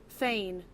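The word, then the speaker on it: thegn: How do you pronounce this? Thane. Google agrees with me. Tane.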